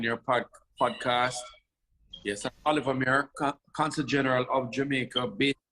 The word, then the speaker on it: Mair: Mair. Did I pronounce that right?